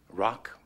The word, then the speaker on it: rock: Rock. R-O-K. Yeah, so what's your point? R-O-C-K! The C is silent.